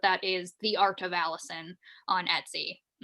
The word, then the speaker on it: Allisyn: up on instagram uh it's always allison uh so my name is spelled funny it's a-l-l-i-s-y-n um so on instagram